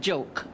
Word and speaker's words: jok: This is called joke. J-O-K, Chinese joke, but it's pronounced joke, J-O-K-E.